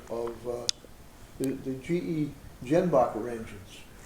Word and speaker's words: Jenbacher: So I got a picture of uh the the GE Jenbacher engines. Yenbacher. That J is like a Y.